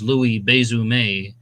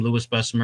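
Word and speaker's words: Louis Besumer: mean I call him Lewis besser Miriam Davis called him Lewis besser because his Heritage was not French it was polish and you know he's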